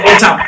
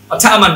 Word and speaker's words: autumn: এই যে অটাম, AUTUMN, অটামান হওয়ার কথা ছিল কিন্তু এটা অটাম।